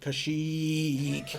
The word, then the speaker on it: Kashyyyk: how do I do I'm pretty sure it's pronounced Kashyyyk yeah there's a quite a few wise in